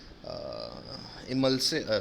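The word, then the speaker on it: emulsin: इमल्सिन कहते हैं कई लोग, पर इमुल्सिन बोलना तो स्पेलिंग याद रहेगी। क्या कहलाता है एंजाइम? इमुल्सिन। कोई पूछेगा तो इमल्सिन कहना, बाकी याद रखना इमुल्सिन।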